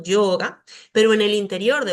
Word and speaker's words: yoga: Si la veo al comienzo, puedo decir yoga y podría pasar, aunque se debería pronunciar como más suavecito, yoga, pero en el interior